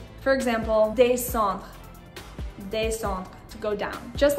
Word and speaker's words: descend: these different patterns, je descends, tu descends, il, elle, iel, on descend. You'll notice that the final des, or just the final de, depending on which one you're saying, is not pronounced.